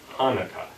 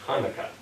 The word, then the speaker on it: Hanukkah: They would say Hanukkah as Hanukkah. Whereas the B'nai Hess, the Slavic-speaking Jews, kept the guttural ch sound, and they would have pronounced Hanukkah as Hanukkah.